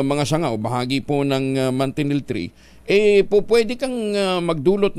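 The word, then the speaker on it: manchineel: silungan mo lang ha delikado na oh ang mantinel 3e Ah mantinel pero ang spelling po niyan eh m n c h i n e e l ha Parang machin pero ang pronunciation po niyya yan mantinel tree Ito po pala ay talagang napakadelikado ano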